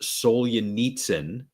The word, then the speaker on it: Solzhenitsyn: His name is Alexander, I think it's pronounced Solzhenitsyn.